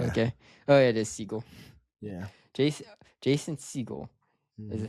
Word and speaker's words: Segel: Oh, yeah, it is Segel.